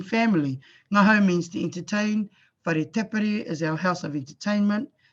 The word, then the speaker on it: whare tapere: So the WH is pronounced as F, and the NG is pronounced as Ng. F and Ng.